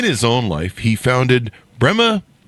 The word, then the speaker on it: Pema: own life, he founded Pema Solutions. Did I pronounce that right, Brendan? Yeah, it's a combination of my wife's name and mine.